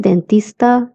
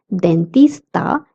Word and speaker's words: dentista: Same goes for the word D, okay, the letter D, we don't pronounce it as D but the. That's why it's dentista and not dentista.